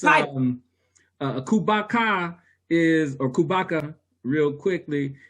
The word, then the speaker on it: Khubaka: title and it's um uh kubatka is or kubaka real quickly it's more of um a a